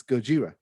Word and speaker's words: Gojira: believe it is pronounced gojira yeah just like a godzilla just like the japanese name of godzilla yes yes it's gojira we also have earth